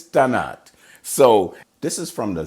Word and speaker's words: Tannat: like his tannic but it's not janet it's tonight so this is from